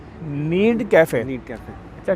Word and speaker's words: Knead: अच्छा, इसका नाम जो है ना वो है नीड कैफ़े। नीड cafe. अच्छा, के लगा हुआ है, के साइलेंट है, तो ये गूंदना जो है ना इसको कहते हैं नीड।